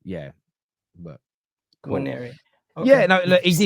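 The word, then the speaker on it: Nwaneri: The N is silent, right?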